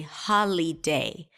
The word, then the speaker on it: holiday: that I didn't say holiday because the middle vowel is a schwa sound so I reduce the vowel there to a schwa ha la day so we have three